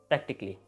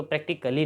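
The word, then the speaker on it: practically: the next word is प्रैक्टिकली ठीक है हम इसको प्रैक्टिकली नहीं पढ़ेंगे इसको प्रैक्टिकली बोलेंगे इसके अंदर जो सी के बाद ए है वो साइलेंट होगा अब आपको खुद थोड़ा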